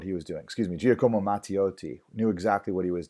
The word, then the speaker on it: Giacomo Matteotti: name correctly here excited side note speak Italian Giacomo Matteotti Giacomo Matteotti Giacomo Matteotti was a member of